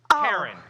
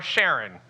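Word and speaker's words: Charon: Animal or moon, number 1, Karen. Or Sharon. That's or Karen, depending on how you pronounce it.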